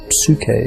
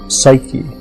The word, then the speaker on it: psyche: a name in the name was su ke and grief psyche is how we pronounce it now and the word means